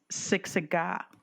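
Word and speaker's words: Siksika: Siksiga. That's the Blackfoot word for Blackfoot. That's also the name of one of our sister tribes, Siksiga. Yes, it is. I worked at Siksiga.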